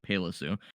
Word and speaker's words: Pailisu: It's spelled Pailisu, which you would never have guessed saying Palisu.